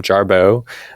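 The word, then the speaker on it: Jarbeaux: Sometimes I go by the drag name Jarboe, which sounds exactly like my name sounds. It's just spelled with a pretentious French spelling, Beaux, Jarboe.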